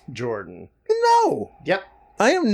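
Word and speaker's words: Jorjdin: of here georgeton no is pronounced Jordan no yep I am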